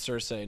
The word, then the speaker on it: Cersei: Can we talk about how upsetting it was when David Benioff was like, "Hey, by the way, it's Cersei, not Cersei.